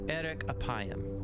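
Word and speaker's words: ארך אפים: In Hebrew, the phrase slow to anger is pronounced eric apayam or literally long of nose.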